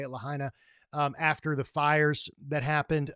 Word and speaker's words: Lahaina: I think that's how you say it, Lahaina.